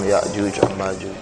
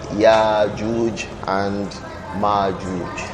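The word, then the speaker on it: Yajuj and Majuj: Y and Ma and we either say Y and Ma or yaj and Ma they are both correct even though majority of the scholars employ the pronunciation without the hams or without the Hamza it is also allowed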